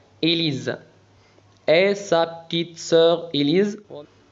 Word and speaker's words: Élise: E accent aigu تنطق et S تنطق Z لأنها وقع بين دو فويال إليز.